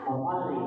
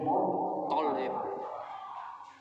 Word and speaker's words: Muttalib: Muttalib bukan Muttalib, tidak, tapi Muttalib.